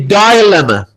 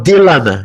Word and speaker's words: dilemma: We can change it into, for example, the dilemma or dilemma. Yani it is pronounced differently. Either we say dilemma or dilemma. Both are correct.